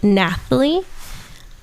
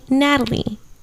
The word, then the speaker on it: Nathalie: My name is actually Nathalie, but everybody calls me Natalie. And how it's spelled is Nathalie. Lie, which obviously that's Nathalie, but a lot of people don't say it, so I got used to saying Natalie, but it is Nathalie. But yes, follow me there.